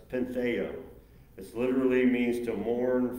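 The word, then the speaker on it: πενθέω: The Greek word is pronounced pentheo.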